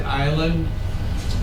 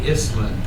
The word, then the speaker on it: island: the east coast and notice that word Island you see Island silent s it looks like it should be island but it's Island Road Island do we